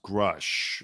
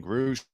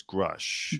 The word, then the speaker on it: Grusch: name by the way is pronounced grush I was saying groovesh last week it's crush crush so he claims Jesus